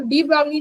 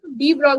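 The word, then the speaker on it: de Broglie: ने है ना तो डी बगली ने क्या बताया इसम शायद एल साइलेंट है डी ब्रोग ने क्या बताया इन्होने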